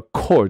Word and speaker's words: chord: 那另外一个发音叫 chord 的一个字，所以这